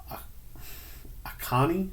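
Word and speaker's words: Achane: Next on the list is Devon Akani, I think is how his last name is pronounced, out of Texas A&M.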